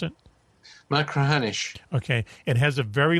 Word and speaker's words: Machrihanish: How do you pronounce it? Machrihanish.